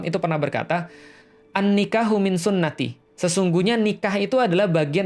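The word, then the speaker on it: سنتي: Itu kadang-kadang kalau dalam bahasa Arab, itu sunnati itu, bisa dibayangin ya, sunnati itu dari huruf sin, nun, dan ta. Gitu kan.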